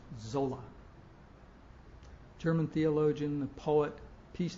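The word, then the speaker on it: Sölle: And she talked about a German theologian, Dorothy Zolla. It's actually spelled Soelle, but I'm told it's pronounced Zola.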